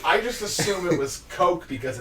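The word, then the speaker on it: Koch: a german word apparently you don't even pronounce the ch it's like co it's just co primetime oh but either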